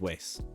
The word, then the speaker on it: は: honestly it goes both ways so his question is so why is hot pronounced what in this situation why is ha pronounced wa in this situation so I'll give you